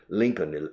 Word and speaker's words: Lincoln: She's from Kansas, Coffeyville, Kansas, but she lives with her husband and her two children in Lincoln, Nebraska.